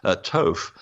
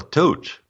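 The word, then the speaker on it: Thoth: For example, Toph. There's no such thing as Toph. That's a Greek transliteration of the godman of Egypt called Jehuti, or Tehote, or Tot. That's the original pronunciation.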